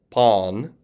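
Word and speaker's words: πᾶν: Okay, so the reason I'm saying pass, pᾶσα, pan with a long alpha is because there would be a circumflex on these alphas.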